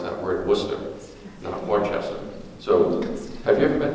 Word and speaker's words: Worcester: Heist at the Worcester Car Museum Massachusetts we pronounced that word Worcester so have you ever been to Washington to